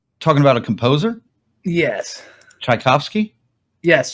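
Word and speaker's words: Tchaikovsky: you talking about talking about a composer yes chaikovsky yes chaikovsky thank you I can't say it what you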